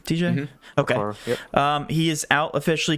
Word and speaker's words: Okoro: Is that how you pronounce the last name, TJ? Mm-hmm. Okay. Okoro, yep.